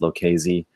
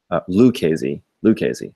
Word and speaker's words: Lucchese: So thanks, Sci-Fi is saying this is pronounced Lucchese. Lucchese, sounds great.